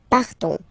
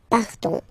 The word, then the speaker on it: partons: So classic ending, O-N-S, you don't pronounce the S. You just have this on sound, nasal. Nous partons. Nous partons.